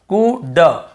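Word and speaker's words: could: उसे नहीं पढ़ना है कुड वल्ड शुल्ड नहीं पढ़ना है केवल कुड वु ड शु ड कुड वुड शुड यहां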